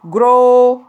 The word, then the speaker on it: grow: الفيربز اللي عندنا grow grow. الاو دبليو تنطق كأنها لونج او grow.